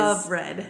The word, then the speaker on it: Offred: But anyway, um it's funny how you you say her name is Offred cuz that's how I started reading at first, but then I realized of Fred. It's of Fred.